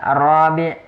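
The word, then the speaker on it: الرابع: Hati-hati ketika pengucapan misalnya ar-rabi', ya, terus al-khamis, ya, karena ini bisa berubah makna.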